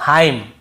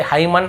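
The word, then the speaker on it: hymn: जैसे autumn column dam और हाईम तो यहां पे हमें ऐसे ऑटम कॉलम डैमन ऐसे हाईमन ऐसे नहीं पढ़ना है।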